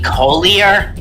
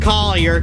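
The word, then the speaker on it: Collier: it this whole time shouldn't it be colier no it's it's pronounced Coler cuz we're from the South if I was from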